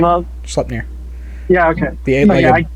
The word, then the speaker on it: Sleipnir: Wasn't one of them the eight-legged horse that I cannot pronounce the name of? Sleipnir.